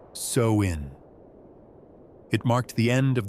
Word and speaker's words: Samhain: They called it Samhain, pronounced sow-in.